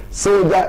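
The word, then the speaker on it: Soljah: Soldier is S-O-L-J-A-H. Soul of Jah.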